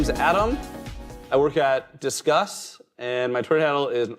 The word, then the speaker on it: Disqus: I get correct um you say it like let's discuss not not discus uh uh very common